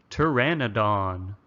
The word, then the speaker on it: Pteranodon: Say it after me. Pteranodon. The P is silent.